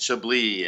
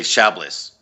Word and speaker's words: Chablis: pronounce angio Basie and Chablis and Cabernet Sauvignon and some of the other ones Gewurztraminer I like that yeah because some people say Shapley's and it's not oh that's crazy yeah